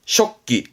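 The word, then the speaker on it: 織機: 그 배틀을 말하는 단어인데 발음은 쇼끼, 쇼끼 씁니다만 음으로는 조직 하나 정도면 충분하다고 보여집니다.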